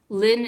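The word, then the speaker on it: 林: is so my last name is is and is the pronunciation in Cantonese Lin is the pronunciation in Mandarin and hey sister Lin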